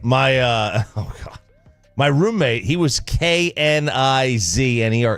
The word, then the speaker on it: Knizner: My my roommate, he was Knizner. It's just like Andrew Kisner for the Rangers. Oh yeah, he's his cousin. It's Kisner. There's no N. You don't pronounce the N.